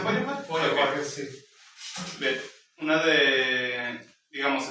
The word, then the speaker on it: Feuerbach: ¿Eso se pronuncia Feuerbach? Feuerbach, sí.